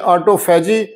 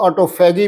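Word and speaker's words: autophagy: Switch on کرتا ہے، جسے ہم انگلش میں آٹوفیجی یا کچھ لوگ آٹوفیگی بھی اس کو پروناؤنس کرتے ہیں، اس کا تلفظ ایسے بولتے ہیں۔ آٹوفیگی کا جو طریقہ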